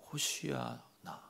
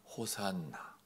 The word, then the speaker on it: 호산나: 여기 구원하여 주십시오, 이 문장에 쓰인 히브리어가 호시아 나입니다. 여러분 비슷한 발음의 단어 어디서 들어본 적 있지 않나요? 호시아나, 호시아나, 호산나.